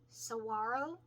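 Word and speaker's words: Saguaro: border with bison and Saro Saro the g is silent Saro Cactus desert so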